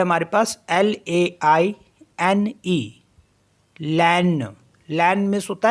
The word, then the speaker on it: laine: Next word है हमारे पास LAINE, लैन, लैन miss होता है वूल।